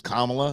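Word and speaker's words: Kamala: it down by now I mean it is kamla and is I think it's pretty damn easy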